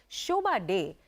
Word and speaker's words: Shobhaa De: when I read it, I'm like, Shobha Day. That name is iconic. The acute E, you know, like the French accent on the day, all of that, you know, the Shobha with the double A.